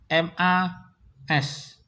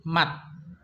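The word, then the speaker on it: 맛: Contohnya M-A-S. Ini dibaca bukan mas, tapi mat. Bacanya mat. Mat ya teman-teman. Jadi jangan dibaca mas, soalnya di akhir S-nya. Jangan dibaca mas, tapi dibaca mat.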